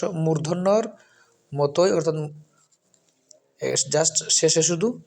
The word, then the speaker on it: মূর্ধন্য: এজন্য দন্তন আর এই শব্দটি এই অক্ষরটি হচ্ছে মদিনান্য যেটা আমরা অনেকে সাধারণত বলে থাকি যে মদিনার কিন্তু সঠিক শুদ্ধ উচ্চারণ হচ্ছে মূর্ধন্য মূর্ধন্য মূর্ধন্য সুতরাং মদিনান্য না বলে আমরা মূর্ধন্য